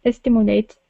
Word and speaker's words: stimulate: sent to a second set of electrodes that stimulates another lawyer of the hypoc campus good thank